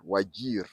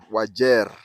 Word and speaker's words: Wajir: spell it as w a j i r wagir that is not how the local pronounce it the local pronounce it as waj wajer uh the way they pronounce it is w